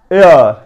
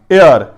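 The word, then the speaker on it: heir: اور ایئر, ایئر. ہیئر نہیں پڑھنا, ایئر.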